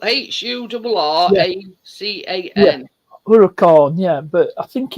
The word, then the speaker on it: Huracan: orur uror it's is it French for Hurricane it's spelled h u r a c a n Huracan yeah but I think it's French for